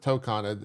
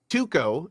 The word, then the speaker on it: Tokon: Tuco is the new fighting game coming out. Is that how you pronounce it? So Or whatever word you're saying. I just keep No, hearing you say something. Marvel Tokon. Tokon. Yeah, we're talking about Marvel Tokon.